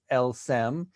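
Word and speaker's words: elles s'aiment: m suzanne maler but when you read those three letters in french phonetically it creates the sentence el sem which means they love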